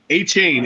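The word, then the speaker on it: Achane: have one a chain a chain is how you say his name it's actually a good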